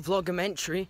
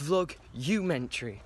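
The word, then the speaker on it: vlogumentary: I found out it's not vlogmentary, it's vlog-umentary. So I've been saying it wrong this whole time.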